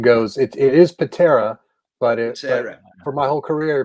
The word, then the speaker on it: Pitarra: And I guessed it might be Pitarra because I know that you guys over in the States, like, it's one of these things that I've always noticed, that the name Tara over here is always pronounced Terra over there. Yeah. So I thought, maybe it works the same on this name.